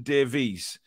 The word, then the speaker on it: Davies: Kath says, Davies, Davis. It's a Welsh name, and it's them pronounced Davies as Davis.